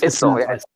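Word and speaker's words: IJssel: It's Issel, ISSEL, Lake Gisel. This is Dutch. Dutch people have weird ways of saying things, so ISIL is the pronunciation.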